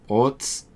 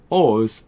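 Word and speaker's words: orz: There's no set way to pronounce it. People may pronounce it as orts, ors, or o's.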